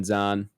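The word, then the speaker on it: Zahn: Uh the cast includes Jack Black, Paul Rudd, Steven Zhan. Is it Zan or Zhan? I think it's Zayn technically.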